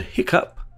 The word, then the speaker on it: hiccough: Interestingly, in the word hiccup, the GH also produces a P sound.